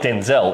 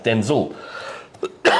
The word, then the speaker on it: Denzel: Denzel is not Denzel, it's Denzel. He was named after his father, but it used to get confusing. So his mum started just calling him Denzel instead of Denzel.